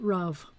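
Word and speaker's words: רע: you feeling today which sounds a little like raw but ra bad or evil and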